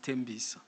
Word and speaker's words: Tembisa: But what we want to do, Tembisa, it's actually pronounced Tembisa, because Mauti Tembisa ngati lokshin.